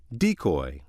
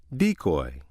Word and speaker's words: decoy: or confuse their readers the other pronunciation of word six is decoy decoy this pronunciation is used when word six functions as a noun meaning a person or thing used to lure into a trap the leader of